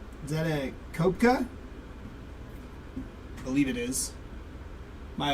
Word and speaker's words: Koepka: Koepka, there we go.